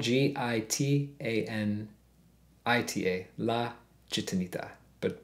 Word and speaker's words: Gitanita: But it's spelled G-I-T-A-N-I-T-A, La Gitanita, but pronounced Gitanita.